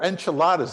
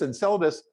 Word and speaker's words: Enceladus: And then little tiny Enceladus, or enchiladas, as one of my students once pronounced it. It's Enceladus.